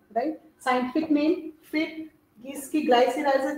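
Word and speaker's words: Glycyrrhiza: So scientific name of मुलट्ठी है ना, ग्लाइसीराइज़ा, ऐसे ही प्रोनाउंस करते हैं इसको.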